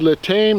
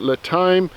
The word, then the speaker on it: LiTime: Now it's pronounced LiTime, not LiTime.